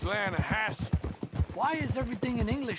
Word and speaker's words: Lanahatchee: You mean the Lanahassee River? No. The Lanahatchee. It runs right near here. Yeah, but it's pronounced Lanahassee.